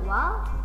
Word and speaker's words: wal: Nah, ketika kita baca wal, lamnya dibaca ya. Jadi tidak dilewat langsung ke ku, tapi dibaca dulu lamnya.